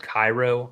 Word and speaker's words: Cairo: fuck up the name, but it's called Cairo, I believe it is. It's spelled similar to like Cairo, Egypt.